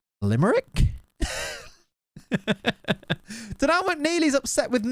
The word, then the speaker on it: Limerick: And then she's like, I've just been told by some of my fans that it's actually pronounced Limerick.